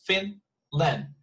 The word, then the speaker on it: Finland: the first one because it's just 2 syllables, Finland, and the stress is at the beginning, you see?